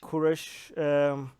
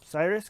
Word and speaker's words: Kurush: Kurush. I forgot how you said English. His real name is Kurush, but in Western way they say Cyrus, King Cyrus, right?